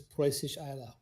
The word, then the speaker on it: Preußisch Eylau: Okay, on my my streak of pedantism, I actually looked up how to pronounce it, Preußisch Eylau, and it is Preußisch Eylau.